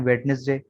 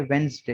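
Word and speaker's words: Wednesday: इसको बाद लोग पढ़ते हैं वेडनेसडे, बाद लोग पढ़ते हैं वेनसडे, असल में है वेंसडे। यहाँ से यहाँ तक एक ही साउंड है, वेंस, ठीक है। ये जो एस है ये भी जे की आवाज बन जाती है, वेंस, वेंसडे, ठीक है। इसको अगर लिखा जाए तो ये, ठीक है, वेंसडे यूं पढ़ा जाता है, वेंसडे। वेडनेसडे वेनसडे कुछ भी नहीं है, वेंसडे, ठीक है।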